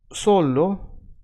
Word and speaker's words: solo: If you're confused again, just for the sake of learning some Russian, solo means alone or only, right? Only or alone. Now, solo has the accent in so, right?